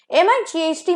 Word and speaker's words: mite: ठीक है, तीनों का pronunciation same है। MITE, might का मतलब है बहुत छोटा सा amount.